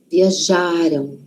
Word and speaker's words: viajaram: Passado tá antes da gente. O passado, então a sílaba tônica, síba forte, tá antes. Viajaram, viajaram.